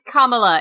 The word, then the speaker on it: Kamala: gang stand I think Kamala is and is it camel or Kamala its Kamala it's it's like Pamela with a K oh thank you that's